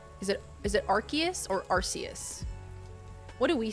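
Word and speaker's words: Arceus: I think it was C, but then they officially said Archus. They are wrong. Nintendo was like, "We're going to change the language." Okay, you guys may pronounce it like that. That's wrong. What you what you know from the past is wrong. Okay, learn the new pronunciation.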